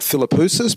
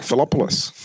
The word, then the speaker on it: Filopoulos: I usually get Filopoulos, but you said it right, Filopoulos.